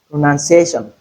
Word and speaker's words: pronunciation: to note is that it is not pronoun. It's not noun but none. None. pronunciation. Then we have two syllables here in place of ca not pronunciation say oiation. So take note of the pronunciation of pronunciation. That's funny, right?